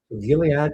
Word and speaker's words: Gilead: So they're now the interesting one is take a look at Gile uh Gilead Gilead RG soft G. Julad is buying that ACRX.